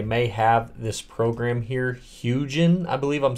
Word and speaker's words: Hugin: have this program here hugin I believe I'm saying it right I don't think it's huging I think it's hugin because you know panoramas are huge it's a hugin so anyways um I'm